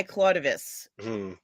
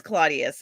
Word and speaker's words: Claudius: Yorkshire geek says uh you have to say it like that I claudus Claud something um it's Claudius it's the be thanks